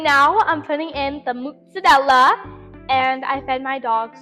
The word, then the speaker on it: mozzarella: like, yeah, I'm gonna get just, tomato with mozzarella. And they go, what's that? And I go, mozzarella. And they go, what's mozzarella?